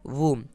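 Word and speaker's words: womb: अगला वर्ड है डब्ल्यू ओ एम, ठीक है, तो बी साइलेंट रहेगा इसलिए हम बी को नहीं पढ़ रहे हैं, लेकिन लिखना ज़रूर है। लिखने में आप ये गलती मत करना कि बी साइलेंट है तो हम बी को लिख नहीं रहे, बी को हमें लिखना ज़रूरी है, ठीक है। तो ये हो गया हमारा वर्ड वूम।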